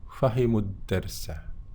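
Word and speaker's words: فَهِمُوا الدَّرْسَ: Membacanya pendek, ya, karena di sini ketemu lam mati di sini, ya. Maka waw ini seakan-akan tidak dibaca, ya.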